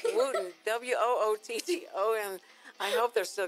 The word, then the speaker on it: Wootton: We want to thank our sponsor, the Wooten Financial Group, and that's spelled... Y'all don't laugh at that. That's the sponsor. It's the Wooten. It's Wooten.